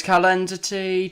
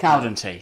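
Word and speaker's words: Caldentey: Here's Calendity. Tries to get it out. That's can't be how you pronounce it. Caldentee, sorry, yeah.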